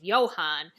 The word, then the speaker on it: Johan: It's Johann, which with the German pronunciation is Johann.